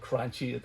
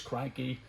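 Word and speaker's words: Cranchi: And while I'm at it, this cranky, or cranchy, I call it cranchy, it is cranky. You don't need to tell me. I get loads of people telling me you're pronouncing the boat name wrong. That's fine, but it is cranky in Italian.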